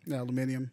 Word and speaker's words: aluminium: used this aluminum plumenia aluminium that's a british way to say it